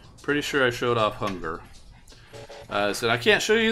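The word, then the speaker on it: Hungurr: Hunger. Notice how it's spelled. Hun-G-U-R-R-R. There's no A in it. It's not Hungar. It's not one 3 R's. Hunger. I can't roll my name R's like Spanish, but Hunger.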